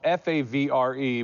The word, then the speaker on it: Favre: you about growing up your last name spelled f a v re but it's Favre you grew up in